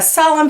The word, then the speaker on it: solemn: So you have a lot of silent N's on this page. You have a silent K here, and you have a silent N here, and N is silent here, and in the word hymn too.